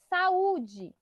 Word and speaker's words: saúde: Quando tiver acento, essa é a sílaba mais forte. Não tem nem o que pensar. Então, tem um acento ali no U, a sílaba mais forte é o U.